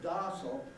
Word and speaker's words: docile: very obvious context because darcel is the way an american speaker pronounces the word docile and intuitive of an